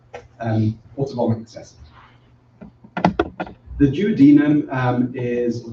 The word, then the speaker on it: duodenum: The duodenum is, or duodenum, if you prefer to pronounce it like that, is designed to produce